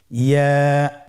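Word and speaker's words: ياء: পরবর্তী হরফটির নাম কি ইয়া ইয়া হরফটি উচ্চারণের ক্ষেত্রে বারিক হবে এবং এক আলিফ টেনে পড়তে হবেইয়া আবার বলুন ইয়া ইয়ার মাখরাজ কোন জায়গা থেকে উচ্চারিত হয়?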